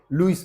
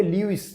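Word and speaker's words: Louis: चू, जू, Hebrew, लुइस, किसी का नाम लुइस बोलेंगे, ल्यूइस नहीं बोलेंगे, है ना, लुइस।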